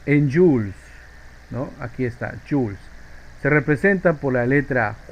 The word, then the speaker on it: joule: Aquí está, joules. Se representa por la letra J y se pronuncia, escribe joule, se pronuncia joule, ¿no?